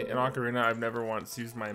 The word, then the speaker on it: Ocarina: same floor this is how you say it Ocarina I've never once use my map because it